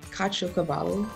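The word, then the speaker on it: caciocavallo: those words for example i got the word kachokavalo in a spelling bee before it's spelled c-a-c-i-o c-a-v-a-l-l-o and it's a kind of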